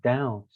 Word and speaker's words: doubt: pronounce the n or we say doubt we don't pronounce the b or we say damn